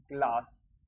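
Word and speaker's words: Glas: और इसके बाद में अपन देखते हैं अगर एस हो, वो लास्ट में हो, लास्ट में एस, तो इसको बोलते हैं स। जैसे ग्लास, ग, ले, आ और स, ग्लास। इस तरीके से ये ग्लास हो जाता है।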